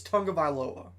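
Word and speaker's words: Tagovailoa: looking at tua and most people do not know how to pronounce his last name it's his last name's tonga viloa he was 19 of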